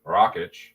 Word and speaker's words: Rakić: Jerry I have picked Alexander Rockit and that's how you pronounced his name Moyes was on here